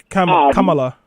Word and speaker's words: Kamala: Yeah, Kamala.